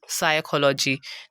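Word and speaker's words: psychology: उसके बाद fourth example है हमारे पास साइकोलॉजी। तो यहाँ पर भी हमने पी को साइलेंट करना है क्योंकि वो एस से पहले आ रहा है।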